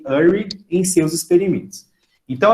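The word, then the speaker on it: Urey: experimento de Miller e URI tá vão a pronúncia correta seria Miller e Ari né os caras são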